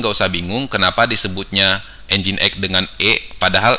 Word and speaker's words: NGINX: usah bingung kenapa disebutnya engine.exe dengan epada hal ejaannya adalah engine.exe seperti ini karena walaupun ejaannya ngi n x tapi dibacanya engine sehingga disingkatnya menjadi huruf